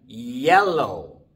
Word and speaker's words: yellow: you y al lado no digan hello porque sólo se escribe con jota y significa gelatina digan yellow no es malo sino hielo como si fuera una y nada más y el guión bostezar